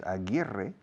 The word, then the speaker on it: Aguirre: There was a very famous basketball player in the 1970s whose name was Aguirre, but in the NBA it was Aguirre.